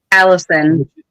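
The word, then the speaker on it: allicin: of beneficial compounds including Alan how do you pronounce that Alan Allison Allison which is bio bioavailable when crushed and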